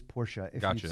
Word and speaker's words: Porsche: so in you know in German you pronounce kind of every letter so it is Porsche if I just said